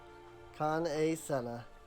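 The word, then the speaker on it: Kan-E-Senna: Kan-e Sena. I understand you bear a message from the Flame General. I always say it wrong. Kan A. Senna.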